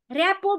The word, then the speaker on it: rapport: अब भने मेरो आजको ट्रेनिङको विषयवस्तु रहेको छ ऱ्यापो बिल्डिङ। सम्झना मे, मेरो सेयर भएको छ स्क्रिन? हस्, धन्यवाद। इन्चार्ज पनि गरेकी छु। ल सर म्यामहरू, आजको मेरो विषयवस्तु रहेको छ ऱ्यापो बिल्डिङ, सम्बन्ध निर्माण।